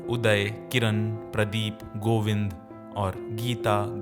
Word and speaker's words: Geeta: Almost all Indian female names would actually end in a longer syllable of A or E called Dirgha Swaras. For example, the name Geeta would in fact be Geeta.